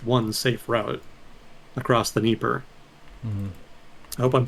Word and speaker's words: Dnieper: It's spelled like Dnieper, but I think the D is supposed to be silent, or something weird like that.